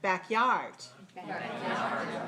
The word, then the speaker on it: backyard: Backyard. Backyard. Two syllables, stressed. Backyard. Backyard. Stressed on the second.